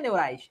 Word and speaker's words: neurais: devida correção pessoal neurais a sílaba tônica é orais pronuncia neurais neurais é uma oxítona não tem acento o pior descuidado tá